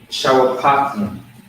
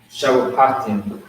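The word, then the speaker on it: שופטים: Shawapatim. Okay. Shawapatim is how you would say that.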